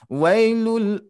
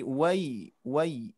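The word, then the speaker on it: ويل: Nah ini dibacanya jelas i ke i ya. Jangan sampai sedikit pun nanti terasa Bu. Wailul, wailul, wailul, wailul. Tapi wai.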